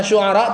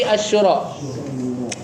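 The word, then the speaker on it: Asy-Syura: Bukan Asyuara tapi Asyura. Hati-hati.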